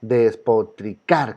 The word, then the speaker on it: despotricar: Y en despotricar, despotricar. ¿Cuál es la que suena más fuerte? Car.